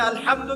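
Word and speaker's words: الحمد: আচ্ছা, এখানে আলহামদু কেমন করে উচ্চারণ করেছেন? গলার কথা থেকে, মাঝখান থেকে না?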